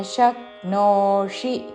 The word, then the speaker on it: शक्नोषि: సమాధాతున్ అథ చిత్తం సమాధాతున్ న శక్నోషి న హ్రస్వము వెంటనే శక్నోషి పలకాలి. తాళవ్య ష దాని మీద ఆఘాత శక్నోషి చివరిలో మూర్ధన్య షి హ్రస్వము.